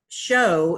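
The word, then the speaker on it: shew: to the back to the king james version show is often spelled sh e w e and we've mispronounce it now for reading from Kings James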